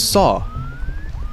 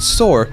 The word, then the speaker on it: saw: The word is saw. If you pronounce it sore, that's wrong.